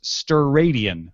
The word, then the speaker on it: steradian: The unit for a solid angle is the steradian, pronounced steradian.